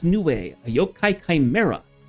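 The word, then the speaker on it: Nue: New pronounced new.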